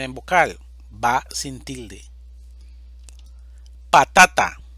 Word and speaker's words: patata: vocal va sin tilde patata división silábica pa ta ta sílaba tónica ta es una palabra grave